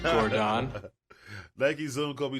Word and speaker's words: Nike: fate to Black Nike konik Dro Nike it's pronounced Gordon niky Zoom Kobe 2 fade the black light bone